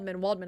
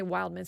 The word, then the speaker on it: Waldman: how do you say her last name? Waldman. I always would say Wildman.